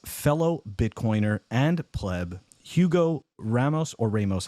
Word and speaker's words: Ramos: bitcoiner and pleb Hugo Ramos or Ramos how how do I pronounce your last name actually the pronouncing is Ros Ros okay yeah but it's